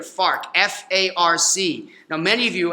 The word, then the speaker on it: FARC: You got to be careful with how you say it there. FARC.